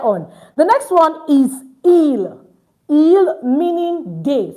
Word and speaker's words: ils: The next one is ill. Ill meaning day. So see it's not eels. Don't forget the s is not pronounced.